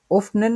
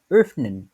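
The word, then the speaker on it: öffnen: উফনেন তো ওটা হচ্ছে মানে একটু বিকৃত রকম ভাবে উচ্চারণ হয় আর কি যে ওফনেন না হয় উফনেন উফনেন এভাবে করে বলে এটা হচ্ছে আরো একটা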